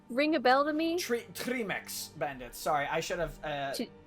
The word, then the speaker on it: Trmyx: Trimex bandits.